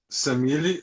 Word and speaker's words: Samili: A gente, como que se pronuncia correto? Samile O ou meu é Samile?